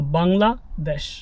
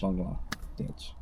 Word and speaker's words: Bangladesh: And desh in in Bangla literally means country. So it's kind of like the land where they speak Bangla, right? So Bangla desh. Bangla dash dash dash dash.